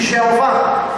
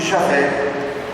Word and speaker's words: Javé: Por isso, quem conhece um pouco a língua hebraica nunca pronuncia o nome de Deus, que está em Êxodo 3, versículo 15, de Jeová, mas de Javé.